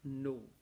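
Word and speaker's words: know: Sometimes the T is silent, somewhere N is silent. For example, for the word no, N-O is no, and K-N-O-W is also no.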